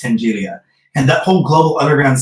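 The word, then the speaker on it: Tenaglia: one, then you had Tengilia. I hope I said that. And I always say, I used to always pronounce that wrong, but I think it's Tengilia.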